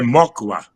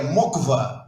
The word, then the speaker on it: Mokwa: sobrenome é estrangeiro, é Mocua. É isso mesmo ou não? Quase, Morandini. É Mocva. O K é mudo e o W se pronuncia como fosse como um V.